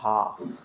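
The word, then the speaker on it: half: sound नहीं देना आपको इसी तरह से एल एफ भी जब भी आए तो वहा एल को खामोश रखना है आपको और बाकी लेटर को पढ़ लेना एच ए एल एफ क्या हो जाएगा हाफ इसी तरह से प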